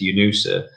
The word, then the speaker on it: UNOOSA: But since the launch of Sputnik, actually, there has been this small office, and the pronunciation of the acronym is perfect, UNOOSA.